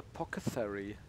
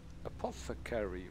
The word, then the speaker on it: apothecary: return for your help why is everyone keeps calling them a pocket fairy is that like weird british pronunciation thing or do they just pronounce it wrong apothecary right but what do